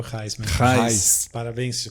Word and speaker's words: Gijs: O nome, minha mãe não pensou muito numa carreira internacional, porque esse nome se pronuncia certamente só na Holanda. Tipo, nem na Bélgica, nem na Alemanha fala Reis.